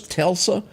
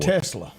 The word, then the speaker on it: Tesla: ever seen one of those Telsa or no I'm pronouncing it wrong how do you say that word Tesla Tesla pickup trucks well here's